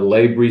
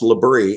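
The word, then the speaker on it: Labry: And then you were the dean of the Labrey School of Business and Science. If I got that wrong, let me know. But No, that's right. It's pronounced Labrie.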